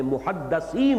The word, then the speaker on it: محدث: رسول کی امت میں محدثین ہوتے ہیں۔ اس لفظ کو اچھی طرح صحیح تلفظ کے ساتھ سمجھ لیجئے، محدث دال کے زیر کے ساتھ، وہ تو وہ علماء